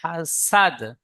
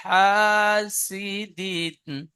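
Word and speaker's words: حسد: এখানে সিটি মারার মতন উচ্চারণ করবেন, ইজা হাসাদ। হুম। বুঝতে পারলেন? এই আচ্ছা। ওয়ামিন শাররি, শাররি হাসিদিন ইজা হাসাদ, হাসাদ সিন।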